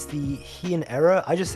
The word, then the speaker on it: Heian: is I don't want to get like the pronunciation of this wrong. It's the Heian era. I just say Heian though.